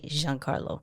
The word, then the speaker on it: Giancarlo: he heard it but I'm sure we're not the only people who say Jean Carlo yeah I'm not going to call him Johnny how about that yeah